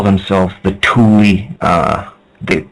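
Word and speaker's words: Thule: to call themselves the Tuli uh the like t h l e but pronounced t o o l i e that's what Atlantis was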